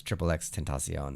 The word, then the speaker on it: XXXTentacion: And then people figured out that it was Triple X Tentacion.